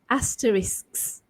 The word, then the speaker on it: asterisks: And so you say this as asterisks, right? So SKS there, that one, that trips me up, basically, that consonant cluster there, asterisks.